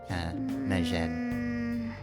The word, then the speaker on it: Medjed: Sort of pronounce the D there. You just don't linger on it like at all. Medjed.